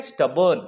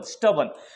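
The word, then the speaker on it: stubborn: तो कुछ लोग बिल्कुल ऐसे ही जिद्दी होते हैं और इसको इंग्लिश में कहते हैं स्टबर्न। स्टबर्न, स्टबॉर्न नहीं कहेंगे, इसके प्रोनाउंसिएशन पर भी आप ध्यान दीजिए। इसे हम कहेंगे स्टबर्न।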